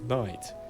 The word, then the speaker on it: knight: on the screen used to be pronounced knicht, but is now Knicht? I thought it was knight, but knicht. Knicht. pronounced night. The K has become silent, and the GH, well, I mean, it's not technically silent, since it causes the word to be pronounced as night rather than nit, but it doesn't really